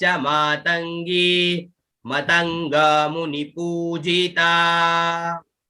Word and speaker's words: मातंगी: आगे वन दुर्गा च मातंगी, मात अंग में ग और बड़ी ई की मात्रा, तो मातंगी, अंग और फिर गी का उच्चारण, ठीक है ना, तो मातंगी, फिर मतंग, मत अंग में